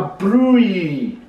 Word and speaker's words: Brouilly: Burley himself and it's a brewery spelt BL all new i double-l why the pronounced broom and he the Double L is silent silent it's an appellation